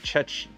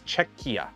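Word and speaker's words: Czechia: I got to keep I always pronounce it chetch. It's cheekia.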